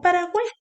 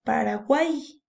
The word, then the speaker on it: Paraguay: Pero hay una norma que nos dice que la Y al final de una sílaba siempre suena como una I. Entonces tú dices Paraguay, ¿cierto?